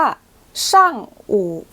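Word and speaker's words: 上午: ช่วง บ่าย คำ ถัด ไป ค่ะ อ่าน ว่า ช่าง อู่ ช่าง อู่ ช่าง อู่ จะ แปล ว่า ช่วง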